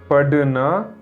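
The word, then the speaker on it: पढ़ना: 30 வரை 21 படிப்பது படுனா படுனா படுனா படிப்பது ரீடு இந்த படனா அப்படிங்கிற சவுண்டு இதுல எழுத்து வடிவத்துல படனா அப்படின்னு எழுதி இருக்கு இங்கிலீஷ்ல பாருங்க படனா அந்த உச்சரிப்பை சரியா கவனிங்க படுனா படுனா 22 படிப்பிப்பது அல்லது படிப்பித்தல்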